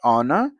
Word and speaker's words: honor: They both have uh I mean, H is uh pronounced, but honor it is silent. H is silent.